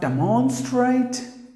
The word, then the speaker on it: demonstrate: Next word is not demonstrate. Note demon. No mon, nothing. So demon, not mon, man.